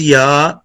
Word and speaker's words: یا: یا pronounced as یا using middle of tongue to touch the middle part of palates.